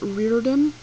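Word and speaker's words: Riordan: author is but um his last name is Reardon um and it's spelled r-i-o -r-d-a-n I don't know I've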